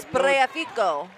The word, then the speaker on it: Spreafico: We got the last name right now. Spreafico. I have no doubts that now the pronunciation is perfect.